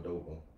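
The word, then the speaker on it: Aduba: Uzo Adoba.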